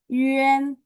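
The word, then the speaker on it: yuan: Y U A N bacanya yen yen mulutnya bulat.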